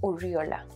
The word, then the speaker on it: Urriola: decir un río la aquí en costa rica pronunciamos urriola es el siguiente libro que